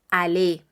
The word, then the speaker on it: aller: lo que voy a utilizar es el verbo Ale Ese es el verbo en infinitivo a l